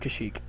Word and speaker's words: Kashyyyk: It's pronounced Kashyyyk.